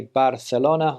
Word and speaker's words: Barcelona: Well, here in Spanish, obviously, I say Barcelona, I say Valencia, I say Palencia, I say Ibiza.